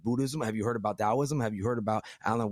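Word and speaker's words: Taoism: The tow of comedy as we would say, but you pronounce Dowoism, Towism. But one of her biggest inspirations is Alan Watts.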